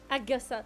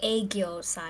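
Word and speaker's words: 애교살: Agyosal. Wait! Agyosal. Agyosal. Agyosal. I've definitely heard this word before. Agyosal. It sounds like something at Korean barbecue. It's pronounced aegyosal.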